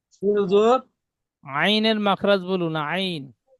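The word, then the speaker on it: ع: আচ্ছা আইনের মাখরাজ বলুন রশিদের ভাই হুজুর আইনের মাখরাজ বলুন আইন আইনের মাখরাজ হবে কন্ঠনালের মাঝখান থেকে উচ্চারণ হয় আইন সুন্দর আইনের সাথে আর কোন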